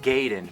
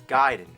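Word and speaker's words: Gaiden: we're talking ninja guided everyone always said Ninja gayen but I know for a fact it's giden on that from The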